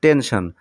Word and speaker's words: tension: আবার টেনশন শব্দটিতে দেখো মাঝখানে এস লেটারের উচ্চারণ আমরা তালব্যস্বর মত পাচ্ছি টেনশন।